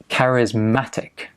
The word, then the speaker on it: charismatic: So charismatic, stress on the ma, charismatic.